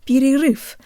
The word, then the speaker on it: перерыв: I'm Kira and today you'll learn how to pronounce the word beauty roof meaning break or pause say the letters P